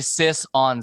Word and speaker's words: Sisson: It's actually sis on Zach George on mine, Sisson Zach George. as in the sister, Oh, okay.